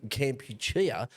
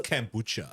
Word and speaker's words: Kampuchea: or getting rid of Kampuchea to get rid of. I always thought it was Kombucha. I've always been pronouncing that wrong.